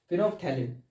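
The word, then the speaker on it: phenolphthalein: इसकी स्पेलिंग आप ऐसे याद रखें, पहले फिनोल लिख लें PHENOL, उसके बाद थैलिन, PH को साइलेंट रखें, THALEIN, थैलिन, ठीक है, फिनोफ्थैलिन।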